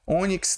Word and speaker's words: ônix: Pessoal, ele disse aqui que o ônix é uma oxítona. Oxítona é a sílaba forte sendo a última. Não, aqui eu tenho a penúltima sílaba forte.